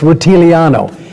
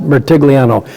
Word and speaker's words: Rutigliano: had coach Sam Rutigliano I got more Italians in Cleveland saying it's rutile Ianno it might be that in Italy but Mr Rutigliano once it pronounced Rutigliano you asked the player